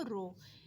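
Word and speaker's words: rho: ठीक है, डेंसिटी का ये सिंबल है, इसको कहते हैं रो। प्रोनाउंस क्या कहते हैं इसको? रो।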